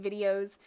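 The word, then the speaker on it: βίντεο: easier to translate and that is pronounced video which is very similar to spanish languages where the b and v sound very similar if not the exact same so there's a little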